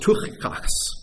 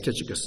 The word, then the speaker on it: Tychicus: In Greek, it's pronounced Tuchikos. That's why we say Tychicus instead.